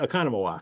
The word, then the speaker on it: Oconomowoc: It's actually the way it's spelled.